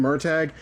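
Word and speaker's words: Murtagh: I kind of hate that the pronunciation of his name Myrtag is one of the few things this movie got right.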